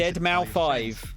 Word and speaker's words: deadmau5: deadmau5 yes that is the correct way to pronounce deadmau5 we're here to talk to you all about